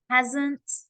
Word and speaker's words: has: So haven't, has, make sure that's a Z, hasn't, haven't.